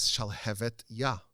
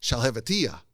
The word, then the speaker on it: Shalhevet Yah: The name of the book is Shalhevet Yah, which means the flame of God. And everyone would mispronounce it as Shalhevetiyah, which means nothing, which is just gibberish.